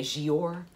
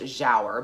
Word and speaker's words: Giaour: me wants to say gior but i have been told that it is to be pronounced jauer because it is a turkish term and so this is